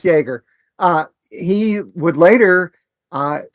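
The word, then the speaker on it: Jaeger: It's pronounced Jagger.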